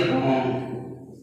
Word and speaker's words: wrong: या फिर आर से पहले डब्ल्यू आता है तो क्या होगा, साइलेंट वर्ड माना जाता है, ठीक है ना। तो यहाँ पर क्या पढ़ेंगे, WRONG को हम क्या पढ़ेंगे, रॉन्ग, ठीक है ना। तो इसको हम क्या पढ़ेंगे, रॉन्ग पढ़ेंगे।